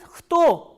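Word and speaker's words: кто: learn 3 interrogative words: kto, shto and gdje. The first interrogative word that we are going to discuss today is kto. Please see here, k and t together are pronounced as kto, not kto.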